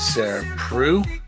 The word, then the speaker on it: Sarah Preu: So joining me today is Sarah Preu. Did I pronounce that correctly?